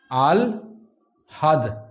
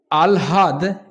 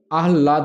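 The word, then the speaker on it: আহ্লাদ: এটারও আগে উচ্চারণ হবে ল। আল হাদ। তাহলে দেখতে পাচ্ছি যে ল আগে উচ্চারিত হলো। এই আলহাদ এটা আমরা প্রচুর ভুলভাল শুনি। এটা কিন্তু আহলাদ নয়।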